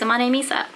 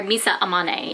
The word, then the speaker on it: Misa Amane: mean she's cute she's a monae misa so or misa amane if you want to say it right okay so instead of